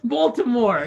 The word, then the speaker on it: Baltimore: Balmer accent? Balmer. Baltimore.